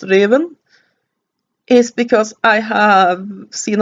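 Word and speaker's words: Ruthven: only reason why I know it is actually pronounced Raven is because I have seen a lot of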